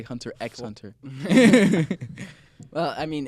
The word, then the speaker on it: Hunter x Hunter: and my favorite is Hunter hunter because it's freaking beautiful excuse you there's an X in between hunter and Hunter it's not pronounced and it's amazing it